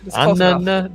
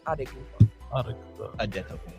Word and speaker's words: Antetokounmpo: That's Antetokounmpo. Did you? You can either say it as it's spelled, so Antetokounmpo, or you can say it with the Nigerian pronunciation, which is Adekunpo.